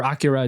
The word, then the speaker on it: Akira: When we're gonna we talked about Akira before, or Akira, it's actually pronounced.